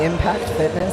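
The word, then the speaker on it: Impakt Fitness: Yep, it's Impact Fitness. It's spelled IMPAKT_fitness.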